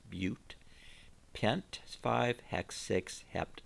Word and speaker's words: but: three is prop a butte is four and that's a long u it's not but it's butte pint five hex six